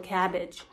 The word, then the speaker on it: CABG: ，不是 CABG，我们叫做 cabbage，就是蔬菜的那个 cabbage，是一样的发音。